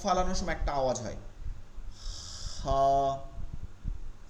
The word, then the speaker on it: خ: এরপরে খ, খয়ের উচ্চারণটা হলকের শেষ থেকে এখানটা তালুতে ঘষা খাবে। এই যে তালু যেটা আছে, আমরা মাখরাজের সময় এগুলো চিত্র সহকারে আরো দেখবো, স্পষ্ট হবো। তালুতে গিয়ে ঘষা খাবে, যেমন কফ ফালানোর সময়